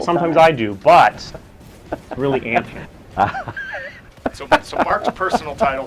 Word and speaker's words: Anthem: to clarify this that it's actually Anem like like pants on an ant that being that are too long and they've shortened them with an ant I've been mispronouncing time